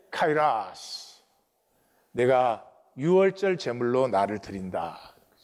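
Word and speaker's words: καιρός: 카이라스. 우리 한국은 이 라틴어 발음을 따라서 카이로스 이렇게 하는데 카이라스.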